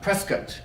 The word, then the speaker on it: Prescott: Prescott is the proper way to say that from what I'm told.